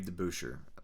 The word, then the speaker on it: DeBusschere: Dave DeBusschere is how you say it.